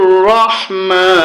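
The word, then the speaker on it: رحيم: বানান করলে হবে রহিমি। যখন আমরা এখানে থেমে যাব তখন হবে রহিম।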